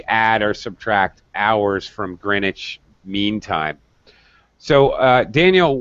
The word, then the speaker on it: Greenwich: it's yes exactly it's greenwich meantime time but they do not pronounce the w that's that's the brits